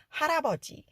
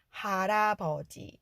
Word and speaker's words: 할아버지: 이것이 연음으로 이어질 때 리을 받침이 아예 이응 자리로 들어갈 수 있기 때문에 자연스러운 발음으로 할아버지 할아버지 이렇게 발음 된다는 거 아시면 좋구요 그리고 여기서